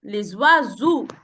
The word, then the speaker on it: oiseaux: Les oiseaux. E-A-U-X se prononce O. Les oiseaux.